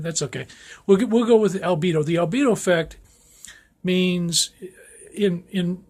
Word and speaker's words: albedo: I'm my pronunciation is not this clear, but it's albedo. It's a Latin word, and it comes from white, the Latin word for white.